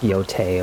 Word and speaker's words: Yotei: But until then, I hope to see you in the next video of the ghost of Yotai. I know it's pronounced Yote or whatever, but it's just Yai.